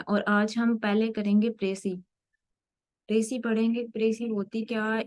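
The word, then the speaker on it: précis: एक French word है next इसको प्रोनाउंस कैसे करना है प्रसी यह इसकी प्रोनाउंस की एविएशन ठीक है देन हम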